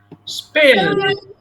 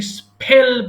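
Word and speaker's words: spell: স্পেল মানে বানান করা, এটাকে স্পেল বলা যাবে না। এস এর পরে যদি পি থাকে তাহলে সিম্পল পি, ফ্ল্যাট পি, এটাতে আর কোনো ফ উচ্চারণ হবে না, মনে রাখবা।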